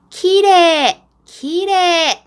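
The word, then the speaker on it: きれい: 친구들 키레이 라고 써있는데 마지막에 있자 는 거의 발음을 안하고 앞에 이래 라고 있는데요 레를 조금 더 길게 키레 길에 이렇게 발음을 해주면 정말 일본 사람 같이 예쁜 발음이 돼요 그런데요 그렇다고 길이 a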